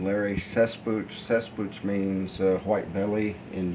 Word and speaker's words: Cesspooch: My name Larry Cesspooch.